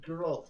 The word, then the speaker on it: Geralt: It's hard G. Geralt.